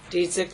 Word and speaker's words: Dziedzic: We are here on case number D467098, Dziedzic versus Dziedzic.